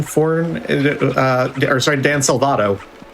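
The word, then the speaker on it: Salvato: Dan for uh or sorry Dan Salvado. Oh yeah, Salvado.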